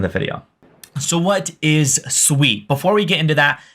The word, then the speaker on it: Sui: Aptos as well so first off what is sweet and first off what's how's it pronounced it is Sweet It Is Not sui I've been corrected multiple times so if you